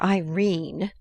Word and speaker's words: Irene: a coward my daughter Irene said Mrs caryle she made it rhyme with turine has had no social